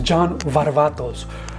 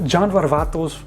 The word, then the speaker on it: John Varvatos: The correct pronunciation is John Varvatos. So John Varvatos from John Varvatos, as I've mentioned before.